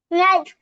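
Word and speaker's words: knife: তো খেই এর পরে এন থাকলে কি হয়? খেইটা সাইলেন্ট হয়ে যায়। তো সাইলেন্ট করে দিলাম। এখন ওয়ার্ডটা কি হবে পড়ো তো? নাইফ।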